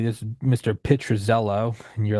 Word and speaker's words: Pitruzzello: Pitruzzello.